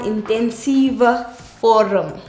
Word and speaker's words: intensiewe vorm: So, intensiewe vorm. Remember, W makes a V sound. So, intensiewe vorm.